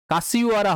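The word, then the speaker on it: Kashiwara: কাসিওয়ারা হবে। এখানে বাংলায় উচ্চারণ হবে কাসভিওরা।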